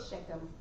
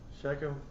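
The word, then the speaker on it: Shechem: I'm not sure how to pronounce that. Sheckchum. Sheckchum.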